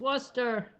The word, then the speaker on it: Worcester: It's Worcester.